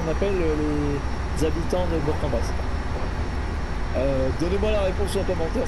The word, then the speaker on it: Bourg-en-Bresse: Alors maintenant, je dis Bourg-en-Bresse parce que j'ai entendu les annonces et Dinman, elle le prononce comme ça.